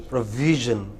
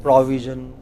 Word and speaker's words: provision: The second syllable, provision. Okay, VI. What is it? Well, a lot of people said provision. They said pro. They took it to the initial syllable, and then they say we. It's not we. It is V. It is provision.